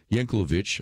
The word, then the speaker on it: Yanukovych: with Vladimir Putin's former puppet in Ukraine Viktor Yanukovych I think is how you pronounce his name including at least 12 million